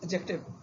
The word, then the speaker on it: adjective: Generally students pronounce is as adjective. It is adjective. D is a silent as it is judge or in dodge.